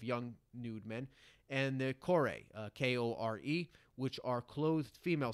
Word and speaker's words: kore: And the Kore, K-O-R-E, which are clothed female statues.